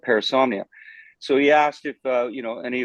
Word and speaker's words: Parasomnia: Parasomnia.